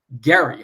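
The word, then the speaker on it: Gerry: mean it actually was named after Eldridge Gary hard g a governor of Massachusetts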